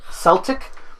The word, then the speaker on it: Celtic: forgive that even though it's supposed to be pronounced Celtic and anybody who says Celtic to my face I swear I'll get mad watch for in another